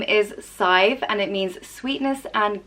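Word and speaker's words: Sadhbh: the next name is scythe and it means sweetness and goodness and is pronounced scythe like rhyming with five and scythe is a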